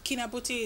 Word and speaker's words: Kinabuti: and just make it easier for others to pronounce it. And it's way easier for me. Kinabuti, it's not.